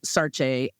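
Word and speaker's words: Saartjie: Sarah was like sort of the English name that they called her. I think the correct pronunciation of her name was Sarche.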